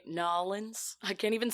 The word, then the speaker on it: New Orleans: Do you say Nolans? I can't even say it. That was a terrible New Orleans.